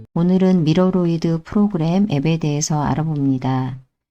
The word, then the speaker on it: 미러로이드: 미러로이드라고 읽는 경우도 있고 미로이드라고 읽는 경우도 있어서 직접 홈페이지에 들어가서 표현을 어떻게 하고 있나 확인해 보았습니다. 홈페이지에서 한글로 표현을 할 때는 미러로이드라고 되어 있어서 영상에서는 미러로이드로 표현을 하겠습니다.